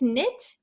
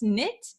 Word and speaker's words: knit: all right and close knit close knit uh please don't pronounce the k here close knit um you're very very